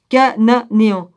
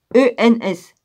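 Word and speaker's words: Chananéens: On prononce pas le H là. Cananéans. Cananeens.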